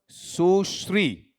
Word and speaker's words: सुश्री: बताओ आपका वहां पर सुश्री ठीक है मैं मजाकमज़ाक में कहा करता हूं इसका उच्चारण बिगाड़ मत देना ठीक है ऐसा मत बोल देना ठीक बताओ क्या होता है सु पॉज लो श्री सुश्री ऐसा सुश्री जय ललिता